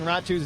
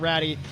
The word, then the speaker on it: Ratu: that we were saying Ratu's name wrong. Spoke with the coaches before the game. I got Ratty. We figured out that's her nickname, so I apologize. It's Ratu, but she has been exceptional all game long.